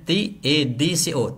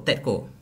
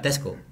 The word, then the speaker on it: TADCO: Bacanya TADCO, TEDCO, bukan Tesco, TEDCO.